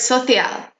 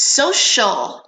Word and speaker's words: social: Scioscia and I heard Sophia but this CI al in English for social we pronounce that CI al like an SH so it's social not so CL and not Sophia social also media we